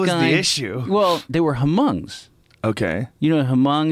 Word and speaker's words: Hmong: issue well there were Hmong's okay you know her mom is like this if you saw a grand Torino that movie with Clint Eastwood I think the H is silent I think yes mom's right the hm oh